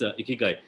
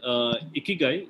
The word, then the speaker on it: ikigai: Ikigai is primarily a combination of these 4 syllables, and it actually comes to iki and gai, and there are various